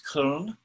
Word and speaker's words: Köln: I think it's Köln. The English pronunciation is Cologne, the name of the city that Brigitte now lives in.